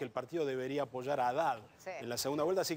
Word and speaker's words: Haddad: ha declarado que el partido debería apoyar a Haddad en la segunda vuelta, así que lo más